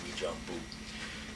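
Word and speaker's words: Uijeongbu: starts off with UI something it's but it's pronounced we J bu and U so um they made a clerk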